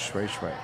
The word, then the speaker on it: Shui Shui: And Edward Wycliffe from Bo Shui Shui, even though it looks like Shoshoe. Yep. It's pronounced Shui Shui.